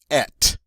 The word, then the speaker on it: et: The T is silent. Means and. But it's followed by a vowel. And so the French are going to let us pronounce this T now. But when we do, it's going to change the pronunciation of a just slightly. Instead of having that A sound, it's going to become et.